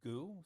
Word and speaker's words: Gu: different one KU um is actually pronounced goo so the K is